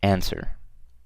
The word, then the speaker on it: answer: okay so you can see number one is answer and I'm pretty sure you guys know how to spell that so it's an and W answer okay